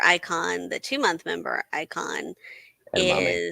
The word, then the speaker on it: edamame: The member icon, the 2-month member icon, Edamame is edamame. kind of rhymes with garame.